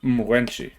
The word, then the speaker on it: Mrwenshi: And it's actually, she pronounced it Mrwenshi. Like the M was sort of swallowed.